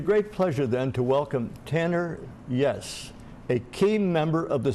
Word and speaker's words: Tanner Yess: of this station or the program's Underwriters Tanner yes correct pronunciation yes yes Tanner yes is my guest